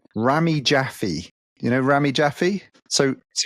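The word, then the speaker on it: Rami Jaffee: a guy called and he I've got to pronounce his name right Ramy jaffy you know Ramy jaffy so yeah you get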